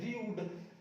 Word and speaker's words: rude: देखो ये लिखा है र्यूड, रूड नहीं है, र्यूड। जब भी इस यू के बाद में कोई व्यंजन हो, ठीक है, इस यू के बाद व्यंजन हो, फिर ई हो, तो इस ई को हम साइलेंट रखेंगे, नहीं पढ़ेंगे।